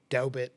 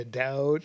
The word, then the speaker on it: doubt: And he was like, well, you know, I once said doubbit instead of a doubt.